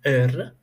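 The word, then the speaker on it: heure: an example you have h e u r e in French it is ER and it means our so you see I I didn't spell an ha an I didn't not spell it her it it doesn't even sound right right uh I spelled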